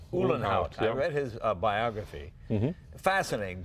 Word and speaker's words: Uhlenhaut: Uhlenhaut. Uhlenhaut.